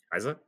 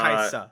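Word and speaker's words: Kai'Sa: Kaisa? Everyone pronounces it Kaisa. Kaisa. A little more emphasis on the S.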